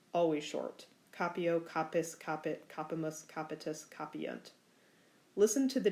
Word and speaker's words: capimus: Accents on different syllables. Capimus versus audimus.